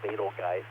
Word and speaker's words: Betelgeuse: is rachel fun monitoring Betelgeuse I really like to call a fatal guy I think it's the more accurate way of pronouncing butyl guys is not giving any